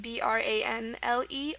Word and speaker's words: branle: Okay, it's spelled B-R-A-N-L-E or B-R-A-N-S-L-E. It's pronounced branle, but the Romanian version of that is browl.